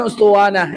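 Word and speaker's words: أسطوانة: Alif sin th wau nun ta marbutah. Ustuwana dengan bahasa Arab. Yang tak pandai bahasa Arab gak usah cari. Ada bacanya ustanah.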